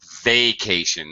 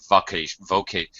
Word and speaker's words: vacation: Very commonly, I don't know why, very commonly mispronounced word, vacation, not vocation. You have to be careful because vocation with an O is a job.